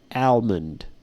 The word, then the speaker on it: almond: of Emmons yeah and depending on the accent can have a silent L so it's either Amand or almond but usually you don't